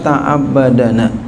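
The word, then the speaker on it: تعبّدنا: Ma ta'abbadana. Ya, bacanya gitu tuh, ta'abbadana. Hidup dalih. Dalnya hidup, itu dalnya dimatiin ya.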